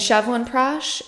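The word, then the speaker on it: Chyawanprash: it every day and shovel and prash that's how you pronounce it Chevron prash I'm trying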